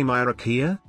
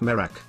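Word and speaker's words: Miraak: Middle Ages is there America ain't no way mirakia it's it's pronounced merak sir I don't like him putting chemicals in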